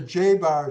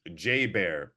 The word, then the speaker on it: J Bear: Let's go on to the J-Bar show. Now, am I pronouncing it correct? So you're probably looking at my early years, J Bear. My middle name is Bear, and so I created